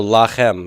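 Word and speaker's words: לָכֶם: If it's not a cuss syllable, it's always a long A. Good, good. So lachem, everybody, lachem.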